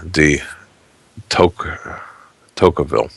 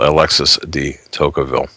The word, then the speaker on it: Tocqueville: going to screw this last name up here, de Tocqueville. If you want to correct me in my pronunciation, you can phonetically spell it and send it to me via email, Alexis de Tocqueville.